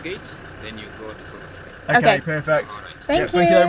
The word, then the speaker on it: Sossusvlei: I said it wrong yesterday. Sussusvlei. It's Sossusvlei. But yeah, that's where we're going to be headed now and it's meant to be amazing.